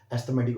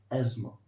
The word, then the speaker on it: asthma: पहला प्रोनाउंसिएशन, इसके दो प्रोनाउंसिएशन है, पहला एस्थमा, दूसरा एज्मा। Okay, the first word is एस्थमा एंड the second is एज्मा। Hindi में हम इसको बोलते हैं अस्थमा। ओके, जब आप इसको इंग्लिश में प्रोनाउंस करेंगे तो आपको प्रोनाउंस करना है एस्थमा और एज्मा।